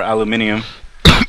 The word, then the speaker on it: aluminium: Well, the pronunciation is slightly different. Like much like aluminum or aluminium.